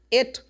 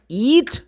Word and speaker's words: it: It is not eat. No. Eat is the verb. I am hungry, so I need to eat something. Eat. If you use the pronoun, you're going to subject pronoun or object pronoun, which is pretty much the same. We're going to say spelling, of course. It. Check. It. Eat. It. Eat. But if I say eat is, you think someone is going to understand something else?